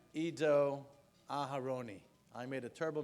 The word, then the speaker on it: Ido: And so please join me in welcoming Ido Aharoni to the podium.